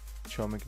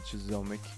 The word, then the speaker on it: Chomik: It's pronounced Chomik, not Chizomic.